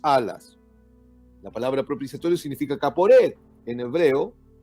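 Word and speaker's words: כפורת: La palabra propiciatorio en hebreo se pronuncia kaporet.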